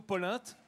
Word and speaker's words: polenta: Ici, on dit plutôt polinte.